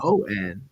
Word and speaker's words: Shon: SHON. Oh, okay. Yeah. Like Sean.